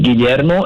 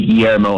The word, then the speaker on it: Guillermo: want to learn uh in spanish is guillermo in english people just say guillermo and it's like that's good enough okay so my english